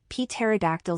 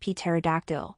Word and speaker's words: pterodactyl: have to be like pterodactyl siblings cuz you're like a girl dude also you told me it's not really pronounced pterodactyl but he wiggled his fingers encouraging a response pterodactyl the p is silent Seuss laughed boy it's